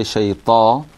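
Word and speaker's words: شيطان: And then when we say shayta, then firstly it's shay, and you have to make sure that you don't bounce the ya, okay?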